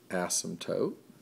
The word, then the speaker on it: asymptote: 0 is a horizontal asymptote remember we've talked about that all the way from 1030-3 on up asym pto te the P is silent and even though I